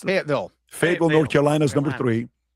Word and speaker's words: Fayetteville: How do you pronounce it? Fayetteville.